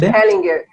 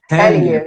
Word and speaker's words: Hellinger: Bert Hellinger. Hellinger, eu estava falando errado.